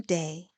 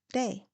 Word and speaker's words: DAA: Morning, I am Day. DAA are my initials, pronounced Day.